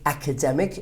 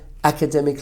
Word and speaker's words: academic: The pronunciation of the word academic is also very important. And also I want to point this out that the other form of the verb is academy. So don't mispronounce academic like academic. Okay, a lot of the students actually make this mistake. So it's academic but academy.